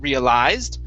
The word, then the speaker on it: realized: is realized okay so instead of putting the stress at the end realized it's real realized stress at the very beginning realized realized good all